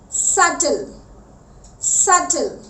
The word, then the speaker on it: subtle: Whenever we see a T after B, हम B के बाद